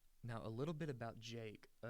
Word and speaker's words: JVKE: a little bit about Jake uh it's spelled jvke but it's just pronounced Jake a little bit about